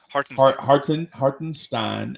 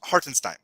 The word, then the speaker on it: Hartenstein: so heart and stein that's the that's the official pronunciation hardenstein i don't know why because he's american he was born in america uh he has the american pronunciation the german pronunciation is it it's not the it's hartenstein hartenstein you know it's uh